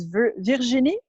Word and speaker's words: Virginie: So it's Virginie, which is spelled like Virginia, but instead of the A, you put an E, More Travel.